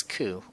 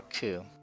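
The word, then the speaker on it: く: for the next character this is ku or ku it's a con it's a consonant followed by a vowel makes up single symbol you process as ku ku ku let's practice writing it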